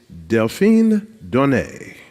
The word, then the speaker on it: Delphine Donné: panel to my left to your right is deline Don have I pronounced it correctly yes thank you thank you